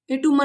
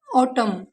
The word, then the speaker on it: autumn: For example AUTUMN, इसे बच्चे गलत प्रोनाउंसिएशन करते हैं इसका, एटूमन नहीं होता, इसे एन नहीं पढ़ते। ऑटम, column, dab, high.